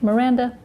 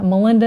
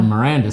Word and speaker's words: Miranda: often called my sister's name joy and yeah melinda and merlinda and mindy mandy whatever started with